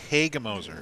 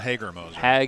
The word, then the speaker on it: Hagemoser: You can say it a few different ways as long as you don't add any phonetically sound different letters. Don't add an R, don't add an N. We'll be all right. So not Hagermoser.